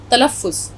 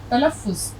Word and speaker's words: तलफ़्फ़ुज़: ते लाम फे ज़ोए, तलफ़्फ़ुज़। हम इसको क्योंकि ये बहुत इम्पॉर्टेंट चीज़ है, बहुत ख़ास चीज़ है, इसलिए मैं इस लफ्ज़ को हिंदी में भी आपके लिए लिख देती हूँ। उच्चारण को उर्दू में कहा जाता है तलफ़्फ़ुज़। तलफ़्फ़ुज़, यहाँ हम आवाज़ निकालेंगे फ़े की। इसको अगर हम रोमन में भी